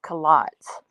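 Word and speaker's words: culottes: so i found out the proper way to say cu lots in the uk is kalats kalats so there i like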